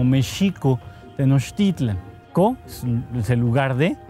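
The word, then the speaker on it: México Tenochtitlan: El nombre, nosotros lo debíamos pronunciar muy estrictamente como Mexico Tenochtitlan.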